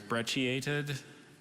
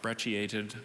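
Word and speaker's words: brecciated: the information yep there's a few variants on pronunciation there's brechiated brachiated breath shaded and breast-shaped so brechiated is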